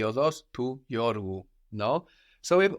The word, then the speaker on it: οδός: Η όδος. Η οδός, with the accent on the end, η οδός.